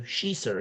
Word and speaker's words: Sheeser: No, she looked at me and said, say it like she. She and then.